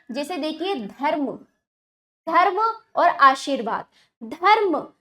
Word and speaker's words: धर्म: ठीक है, जैसे देखिए धर्म, धर्म और आशीर्वाद। धर्म, देखो बच्चों यहाँ पर रा का उच्चारण ध और माँ के बीच में हो रहा है परंतु लगता अगले वर्ण पर ही है।